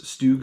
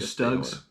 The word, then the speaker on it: StuG: the the place stoog stugs how do you say it i call it stug okay it's either or i feel like is more of the professional version and then stugs like the casual version that's well that's how